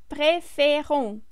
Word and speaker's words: préférons: But now we go back to nous, and it's nous préférons. The stress shifts again to the ending, yes, to the last syllable, the way it was in the infinitive form.